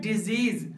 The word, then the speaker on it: disease: पहला वर्ड जिसका स्पेलिंग है DISEASE, इस वर्ड का साउंड होता है डिजीज और इस वर्ड का मतलब होता है बीमारी।